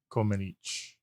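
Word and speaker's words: Comăneci: I found a Romanian guy who pronounced it correctly, and he said Comenici.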